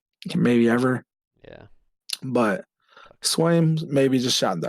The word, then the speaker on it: Swaim: But um, it is it Swamy? Is that how you say his name? Swaim.